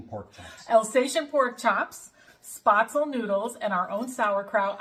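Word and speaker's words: Spätzle: And I'm going to be making, I say spaetzle. That's kind of like the American way of saying it, but the correct pronunciation right there. What is the correct pronunciation? Spaetzle. Spaetzle.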